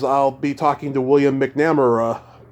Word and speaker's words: McNamara: Thursday, you'll be my fourth guest because I'll be talking to William McNamara. McNamara. Oh, is that how you pronounce it?